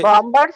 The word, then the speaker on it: bombers: We B is here silent. We do not pronounce B. In middle B. Yeah, middle B. Middle B will not be pronounced. It's bombers, not bombers. Okay.